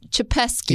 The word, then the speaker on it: Chepesky: His name is James Chepesky. Yeah. Am I saying that right? You are saying it right.